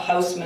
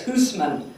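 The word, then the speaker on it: Housman: He said it's not Houseman, it's Hoosman.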